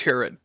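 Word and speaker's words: Hurid: I hate people like you my name is Herod you won't spell that for me it hurried yes we are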